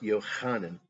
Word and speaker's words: Yochanan: thing go for it john was called johannen pronounced yochanan when it was written by the hebrews matthew was called matasyahu